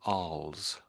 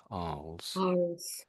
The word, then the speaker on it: Arles: This town here, I think the L and the S is silent if you're saying it in French.